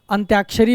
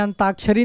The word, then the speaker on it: अंत्याक्षरी: अंताक्षरी अंत्याक्षरी होता है। अंताक्षरी नहीं होता है। क्या होता है? अंत्याक्षरी अंत धन अक्षरी यानी अंत के अक्षर से शुरू होने वाले आप सब